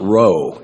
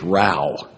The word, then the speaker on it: row: friends terminated na a that next word is not row it's Ral rhymes with cow and it's a quarrel